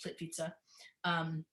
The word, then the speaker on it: Plitvice: But this at Plitvice looks like Plitvice, but because of the way it's pronounced, Plitvice, you can't swim in these, and everybody must stay on these hewn boardwalks.